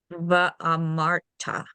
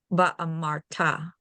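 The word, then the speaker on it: ואמרת: And then this over here has a cantillation mark on the last syllable that tells you where the stress goes. First, how do you read it? Then I'll ask you why. Va'amarta. Va'amarta.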